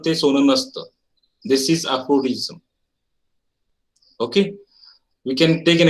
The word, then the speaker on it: aphorism: Now pay attention towards the pronunciation of the words as well. It's aphorism.